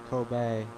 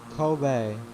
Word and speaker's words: Kobe: that we pass by is the kobe tower kobe i think that's actually how you pronounce the kobe tower so it's uh not